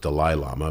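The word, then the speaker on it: Dalai Lama: podcast but I got invited to teach the Dal Lama prime number pattern so and it's actually pronounced delil Lama but anyway so I went there and I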